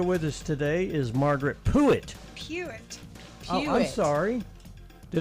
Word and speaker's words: Puett: So it's Puett. It's Pruitt without the R. It's a U, Puett.